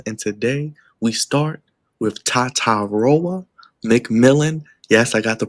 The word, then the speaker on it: Tetairoa: And today we start with Tatairoa McMillan. Yes, I got the pronunciation right, but we call him T-Mac.